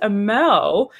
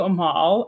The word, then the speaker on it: Amal: So my name's actually it's pronounced Amel, but it's okay. I respond to Amal. I just in the event that you're able to say Amel, it's Amel.